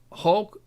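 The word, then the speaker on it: Hauge: guy either um and then h a u g e hog hog okay and Diaz in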